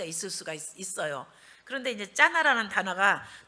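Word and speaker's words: זנה: 근데 이게 히브리 원어에는 짜나 그래요. 이 첩이 행음했다 하는 것이 짜나 이렇게 발음하는 단어인데, 이게 이제 두 가지 해석이 있습니다.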